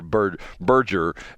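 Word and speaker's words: Berger: I a normal person would say Burger, but is it like Burg? They call it Burge or Burgger.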